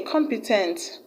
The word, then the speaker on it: competent: SD auntie ocean a competent has is stress on c om which is the first level like was or shall